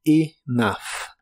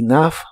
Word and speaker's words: enough: que significan suficiente agua la e de la palabra Enough se pronuncia como una I corta y la combinación de